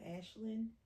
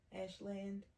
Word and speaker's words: Ashland: Same Virginia, Ashlin. Ashland. Virginia. I can mispronounce words.